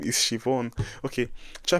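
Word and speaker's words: Siobhan: So try pronouncing this name. It's not so is Shivon. This name is Shivon. Now you see where this is going here. This name is Shivon.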